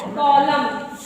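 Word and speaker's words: column: सी ओ एल यू एम एन क्या है कॉलम high H वाई एम N hymn okay समझ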